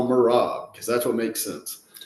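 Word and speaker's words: Merab: lone wolf on this one I'm going with morab uh I don't really care don't really care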